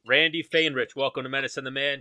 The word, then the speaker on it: Faehrich: pronounce your last name how do you pronounce it fain rich randy feinrich welcome to madison the